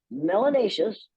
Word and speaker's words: melanatious: or very little melanin, melanatious, which rhymes with gracious and spacious and efficacious.